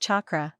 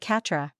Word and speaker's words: chakra: It's pronounced chakra. Why do you call it Catra?